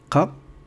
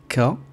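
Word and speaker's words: قَ: Alors ici, je peux mettre une fatha et prononcer Qa, Qa, et non pas K, mais Qa.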